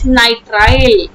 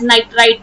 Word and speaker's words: nitrile: right suffix suffix is nitrile nitrile e nitride don't write domestically as nitrite or don't pronounce even as nitrite nitrite is chemical different